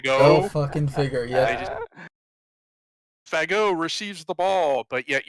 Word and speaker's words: Fagot: And they made a point of always pronouncing it with a French pronunciation. Go figure. Fagot. Go fucking figure, yeah. Fagot receives the ball, but